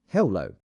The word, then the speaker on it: hello: Hello has two syllables. Hello. The stress is on the second part.